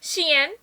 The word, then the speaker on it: Shein: I got it from Shine, guys, or Shein. I know that's how other people pronounce it. I always hear how I pronounce it so wrong, but that's just how I say it, okay?